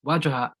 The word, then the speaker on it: Wajahat: It's Wajahat. Just how it's written.